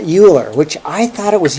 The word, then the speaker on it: Euler: I thought for sure this guy's name was Euler but it turns out it's really like Euler that's really the way you pronounce it but this is the correct that's